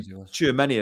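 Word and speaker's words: Tchouaméni: And look, probably Tchouameni as well. I always pronounce that wrong. Is it Tchouameni? No, that's right. Yeah, you were right.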